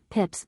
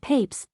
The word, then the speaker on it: Pepys: The most probable explanation is that the name in the 17th century was either pronounced Pips or Papes, for both the forms EA and EY would represent the latter pronunciation.